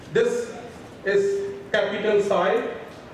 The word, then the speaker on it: psi: This is capital psi, p is silent.